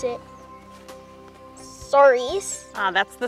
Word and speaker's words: Souris: I'm not sure how to pronounce it. Souris. That's the Souris River, or Mouse River, Billy.